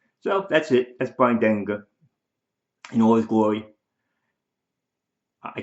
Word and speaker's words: Denlinger: It's Denlinger. Soft G.